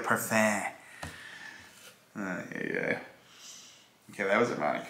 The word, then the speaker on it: parfum: Someone chewed me out for saying it like an American might. I was saying parfum. You know, someone's like, are you serious? No, you say it like parfum.